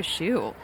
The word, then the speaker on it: Shue: You think she gets a lot of shoe puns in her life? It's deceiving when you look at how it's spelled, so maybe not everybody recognizes that's how you say it.